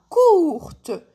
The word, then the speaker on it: courte: شتولي عندنا كورت. زدت لها الاو تاع الفيمينا. دونك كي زدت الاو تاع الفيمينا هاد لو تي وليت ننطقه كور كورت.